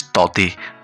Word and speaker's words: Tauktae: It is pronounced as Taute. K will be silent here.